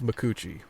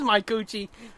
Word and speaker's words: Micucci: my god it is my Gucci no I thought I was looking at the pronunciation I thought it said yeah it's just an M and then coochie yeah but for a